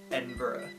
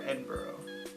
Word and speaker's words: Edinburgh: But apparently the GH turns into an O or like a UH because they pronounce it Edinburgh or Edinburgh.